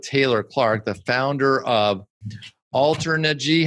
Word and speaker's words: Alternergy: I'm here with Taylor Clark, the founder of Alternergy. How do you pronounce that?